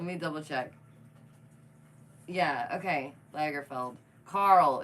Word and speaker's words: Lagerfeld: felt Lagerfeld let me double check yeah okay Lagerfeld Carl it's Carl Carl nobody likes Carl I